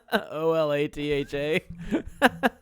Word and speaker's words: Olathe: I love how they spelled Olathe. Olatha. Phonetically.